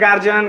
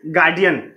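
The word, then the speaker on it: guardian: ये वर्ड देखिए, this is what, बहुत सारे लोग इसे पढ़ते हैं गार्जियन, गार्जियन, पता नहीं क्या क्या, बट the real pronunciation of this word is गार्डियन।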